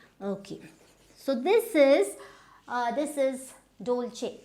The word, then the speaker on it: Dolce: So this is Dolce. Dolce. Now there is no H, but it is pronounced as Dolce.